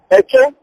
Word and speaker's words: Eke: Eke, I will spell it E for echo, K for kilo, E for echo, E and E for echo, H for hotel, if you like, you put H in the end, that's Eke. Then we have Ore.